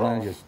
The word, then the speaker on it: Lange: phone and uh no he pronounces it Lang is yeah L I always hope everybody said Lang yeah had a knee